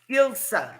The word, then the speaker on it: Ilse: I pronounce your name is Ilse? Yes, Ilse. Ilsa.